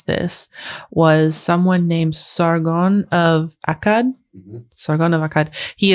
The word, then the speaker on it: Sargon of Akkad: The first, and I was instructed on how to pronounce this, was someone named Sargon of Akkad.